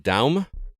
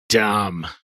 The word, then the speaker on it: Daum: Are we saying Daum? It's spelled D-A-U-M, and in my head, I'm reading it as Damn. But I read it as Dom. Dom, okay.